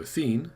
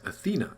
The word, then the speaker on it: Athene: Adam gets to talk to Athene, not Athena, even though he pronounces it that way.